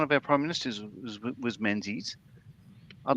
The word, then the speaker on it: Menzies: the name Menzies and how Z isn't a Z, really? The yo is fun. No, tell me more. What's that? Because our one of our prime ministers was Menzies.